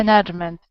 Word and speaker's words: management: Management. Okay, Management. Actually, the stress is here and here, so management.